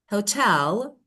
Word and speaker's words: hotel: So that is you know just according to the rule we have the first stress syllable leader but the second one hotel.